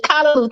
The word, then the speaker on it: Callaloo: There it is, Callaloo.